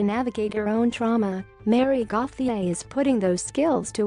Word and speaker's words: Gauthier: Music is a second career for Gauthier, pronounced Gauthier, who is 60.